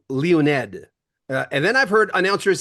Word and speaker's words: Leonid: Russian Well, pronunciation. if you'd be totally like phonetically correct, which is not easy, right? We're but Leo. Leo. Leonid is the original way you say it, Leonid. So But you're in it's okay Florida.